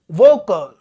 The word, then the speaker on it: vocal: But in this particular word, vocal. Vocal. First is longer and second is shorter.